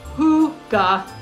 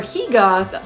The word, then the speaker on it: hygge: Now, hygge, pronounced hygge or hygge as the Norwegians would call it, is all about coziness, connection, and contentment, finding beauty in the simple everyday moments.